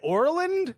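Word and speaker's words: Oreland: I'm pronouncing it right Orland Pennsylvania yeah we're like it's like Ireland with an O because we want to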